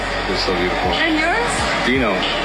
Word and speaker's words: Dino: Dino. Dino. Like dinosaur.